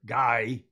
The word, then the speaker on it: Guy: This was sent by Guy. He doesn't like when I say Guy, the French pronunciation.